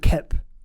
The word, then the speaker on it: Koepp: David Koepp, that's how it's pronounced.